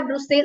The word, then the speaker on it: Brussels: अगर आप बेल्जियम की कैपिटल देखोगे उसका भी यही स्पेलिंग है, ब्रुसेल्स उसे बोला जाता है, यहाँ पर इसकी प्रोनाउंसिएशन होगी ब्रसेल्स, BRUSSELS।